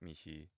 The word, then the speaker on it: mihi: use either one um if you pronounce the h that is if you use the classical pronunciation me is simply the it's almost like a contraction saying can't instead of cannot it's very common um